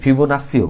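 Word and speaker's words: Fibonacci: অনেক জায়গায় ফিবোনাক্সিও বলে, তো আমরা জাস্ট বাঙালি হিসাবে এটারে নাক্কি করি, ওকে? তো এটারে অনেক জায়গায় শুদ্ধ উচ্চারণে ফিবোনাক্সিও বলে, তো আমি ভাই দুঃখিত, আমি ফিবোনাক্কিটাই বলবো, তোমরা নাস্সি বললে তোমরা নাস্সি বললে সমস্যা নেই, ঠিক আছে?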